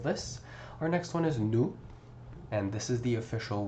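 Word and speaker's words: nous: Notice how I did not pronounce the S over here.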